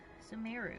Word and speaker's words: Sumeru: out the cinema room samiru right that's how you say it yes we're here has